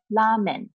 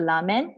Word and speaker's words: ramen: If you go to a restaurant and you want to order ramen, R-A-M-E-N, okay? So Japanese don't pronounce it like R-A. So they pronounce it as L-A instead. So you want to order ramen, so you have to say ramen.